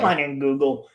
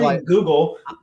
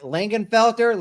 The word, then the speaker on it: Leinenkugel: Leinenkugel. It's And not Which one? Leinenkugel. I was like Langenfelter, Leinenfelker.